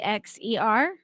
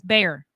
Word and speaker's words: Bexar: How is that pronounced? Bexer. Bexar. Bexer. It's bear.